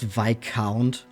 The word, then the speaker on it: Viscount: It's pronounced Viscount.